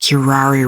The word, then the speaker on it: Kirari: It is literally pronounced Kirari Rari.